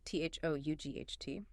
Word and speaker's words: thought: The error there was sought. S o u g ht. Instead of thought, t h o u g ht. This highlights that crucial voiceless th sound again where your tongue